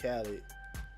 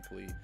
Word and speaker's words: Khalid: Yeah, this was just, man, they said you just Khaled or with the gym membership, bro. Khalid, because I forgot we pronounce his name Khalid with the gym membership.